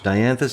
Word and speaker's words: Dianthus: here is uh dianthus is that how you pronounce it dianthus is how odd you pronounce it so it's